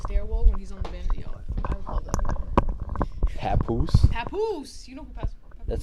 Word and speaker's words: Papoose: of on the stairwell on the I that Papoose Papoose you know who that sounds familiar you